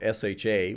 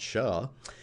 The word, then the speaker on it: SHA: we're going to use something called sha which I like to pronounce sha lifetime 24 hours that's